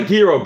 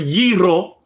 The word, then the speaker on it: gyro: the gyro and i go it's not a hero bro come here it's not a gyro anyway